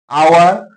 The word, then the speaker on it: hour: Hour, H is silent here.